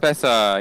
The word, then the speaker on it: Pesa: Everton are sponsored by Sport Pesa or Pisa, however you pronounce Sport it. Pesa, yeah. Pesa.